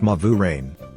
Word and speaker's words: Malverine: My grandparents were Claridge and Malvarine, pronounced Mavurain.